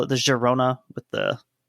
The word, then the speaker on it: Girona: to call it the Girona with the the Catalan pronunciation since that's that's what it's named after what would the other